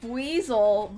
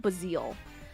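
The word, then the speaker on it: Buizel: I say basel, but I know it's No, I think that is how you say it, but I've always called them bazil.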